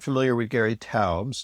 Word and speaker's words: Taubes: And for our listeners who are not familiar with Gary Tabs. T- Aubs. The E S is not pronounced.